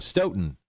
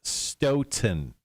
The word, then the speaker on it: Stoughton: graphics and he says tell cotter it's starting pronounced stone stoughton s-t-o-w t-o-n he goes i am actually 20 minutes from there to be fair totally not how they spelled it anyway it's pronounced stoughton 10 just a heads up sure just like